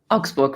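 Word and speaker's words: Augsburg: has a little bit harder and it's in Auxburg is that how I should pronounce that Auxburg right it's close to Munich and I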